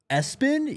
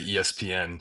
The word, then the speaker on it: ESPN: Um, so it can go either way, but you know, it's in all caps, so I say ESPN.